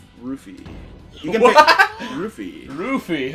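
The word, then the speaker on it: ルフィ: Rufy, huh? That's how they say it in Japanese.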